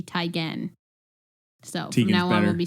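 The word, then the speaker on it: Teigen: news we've all been saying Chrissy Tan's name wrong it's Chrissy tyan so now on we'll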